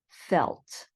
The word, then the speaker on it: felt: are all verbs where that long e sound changes to a short e sound and then you add a t at the end so sleep slept keep kept mean and feel felt and notice that even